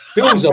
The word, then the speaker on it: Bielsa: You pronounce it Belza. You get what I'm saying, bro? If I was in, where's he from? Argentina. If I was in Argentina, maybe then I would pronounce it the way they pronounce it, innit?